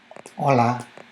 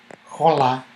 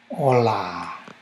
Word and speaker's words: hola: in Spanish you say hola hola and of course here you know something you don't say "jola, jola" we don't pronounce the H that's essential you just say "ola" and the key things